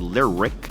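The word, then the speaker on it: Lyriq: Cadillac already has the Lyric, the Celestiq, that's spelled L-Y-R-I-Q and C-E-L-E-S-T-I-Q.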